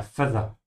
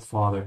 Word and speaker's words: Vater: Yeah, Feather. It's not father.